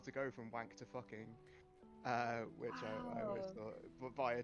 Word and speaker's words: Fucking: Salzburg, and it's called Fucking. Nice. It's spelt how you think it's spelt, but they're like, no, it's pronounced Fuking.